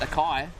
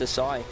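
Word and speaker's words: açaí: try out an oakberry acai not pronounced Akai well that can be pronounced many different ways but um if you speak to a Brazilian because that's where it's from oh is it it is yeah it's uh it's a sigh fantastic so just a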